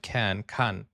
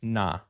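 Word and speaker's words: 나: Again, for each of these Now, why did I think he was gonna combine the ka with the N? That's why I said kan. Okay, so that's na.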